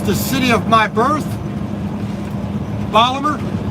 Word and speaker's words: Baltimore: city of my birth polymer that's the proper way to say it if you're from baltimore you say polymer unfortunately the baltimore accent